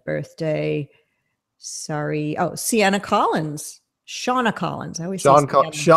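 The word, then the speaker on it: Seana: Shauna Collins. I always Shauna Collins. Her name is spelled S-E-A-N-A, so I always say Sienna, and I'm always wrong.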